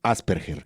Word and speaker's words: Asperger: en la publicación para las dudas se pronuncia Asperger según esta esta nota del tiempo Que obviamente esto es